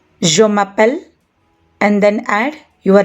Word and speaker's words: appelle: That means the endings o, os, and ont, these endings are not pronounced, and it is just the appel part that gets pronounced. So all these verbs have the same exact pronunciation, appel.